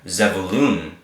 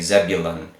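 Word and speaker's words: זְבֻלוּן: goes z vu loon z balloon is how you pronounce this name more correctly said balloon which is in English we say Zebulon but it is fu loon Zebulon okay so we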